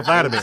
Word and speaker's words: Volodymyr: Oh, that's how you pronounce it? Vladimir. Oh, Vladimir.